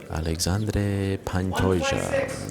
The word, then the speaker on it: Alexandre Pantoja: Thank you very much to my colleague Guilherme Cruz for that pronunciation. Alexandre Pantoja, and he hits his mark, 126 for the Cannibal.